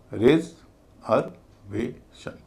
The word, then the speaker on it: reservation: यानी रिजर्व में इ का उच्चारण छोटी इ हो रहा था। रिजर्वेशन में उसका उच्चारण भारी हो जाएगा। उसको बोला जाएगा ए रेज हर वेशन भारी हल्का भारी हल्का। भारी हल्का भारी हल्का पेटेंट।